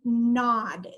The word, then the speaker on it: gnaw: picked was the word nod the G is silent and it is a verb which is an action word and it means bite at or nibble at something persistently sir sometimes people gnaw on their fingernails Lee